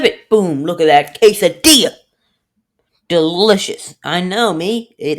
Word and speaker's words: quesadilla: So anyway, I'm gonna see you when the next quesadilla, or some people call it quesadilla. I know there's 2 L's in there, but guess what? You don't pronounce them.